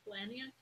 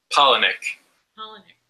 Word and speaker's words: Palahniuk: I'm saying his last name wrong. Chuck Palahniuk. Palahniuk.